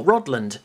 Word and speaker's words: Rodland: be some gameplay for rodland not rod land don't say england england rodland or maybe i've got it wrong maybe it is rodland i've always called it or pronounced it roddling but call it what